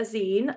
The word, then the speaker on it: zine: So a zine is pronounced like magazine, or it comes from the phrase fanzine.